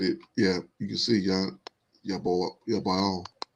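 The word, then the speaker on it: יָבָל: Yeah, you can see Yabal. Yaval. That's how he pronounced it.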